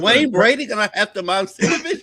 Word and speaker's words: Momcilovic: Milan Momcilovic. Now I gotta say it right because I like that. Momcilovic.